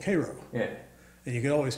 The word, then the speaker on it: Cairo: Well, being from a bordering state, I know it's Cairo.